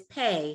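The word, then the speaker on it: פ: And this is Pei, his cousin. Pei doesn't have a final shape, only Fei did. So Pei could be anywhere except the last letter. And it's just a P sound now instead of an F sound.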